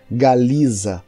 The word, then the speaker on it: Galiza: E preste atenção na forma como eu pronunciei, Galiza.